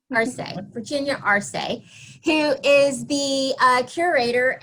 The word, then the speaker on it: Arce: name for me because i think i don't pronounce it correctly it's arsei marseille virginia arsei who is the uh curator at the irvine